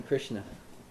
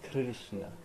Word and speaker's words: Krishna: Krish and Na, or Kri and Shna? Kri and Shna. Kri and Shna. That's my thought. Yeah, because the half syllable always goes with the syllable following it.